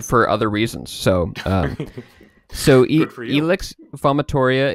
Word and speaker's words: vomitoria: Vomitoria. Okay. Actually, I guess it would be vomitoria. Yes, because the V is a W.